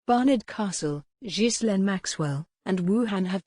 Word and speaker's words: Barnard Castle: But many, including newsreaders, said the name of the northeastern town incorrectly, as it should be pronounced Barnard Castle. Brackets show the phonetic pronunciation Barnard Castle, Barnard Castle, a market